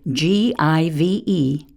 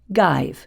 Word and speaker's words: give: by a silent e when students see the word g-i-v-e they pronounce it both ways give guide then choose the one they recognize the same with h-a-v-e have